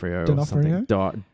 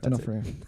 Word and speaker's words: D'Onofrio: D'Onofrio. D'Onofrio.